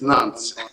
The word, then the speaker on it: Nantes: That's the way Yes, you pronounce it? yes, Nantes.